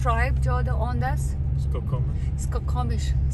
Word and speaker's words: Skokomish: Skokomish. Skokomish. Spell it.